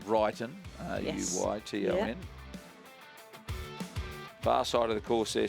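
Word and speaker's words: Ruyton: correctly and I said I had it drummed into me years ago from um Roger Wilson that it's ronu TN far side of the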